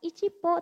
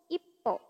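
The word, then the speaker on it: 一歩: Jadinya bukan ichipo, tapi ippo. Double ya, P-nya. Pakai su kecil jadi ippo, artinya 1 langkah.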